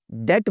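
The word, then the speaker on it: debt: इस तरह डेट बोलते हैं, डेब्ट नहीं बोलते।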